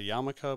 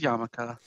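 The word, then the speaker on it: yarmulke: the spelling of it um it's just basically pronounced yamaka but um hm so yeah he walks off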